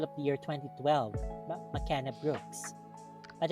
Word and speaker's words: McKenna: the year 2012 but mckenna brooks but apparently her name is pronounced makena so it is different anyway she's a new